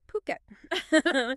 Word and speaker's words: Phuket: And just so everyone's clear, it's pronounced Phuket.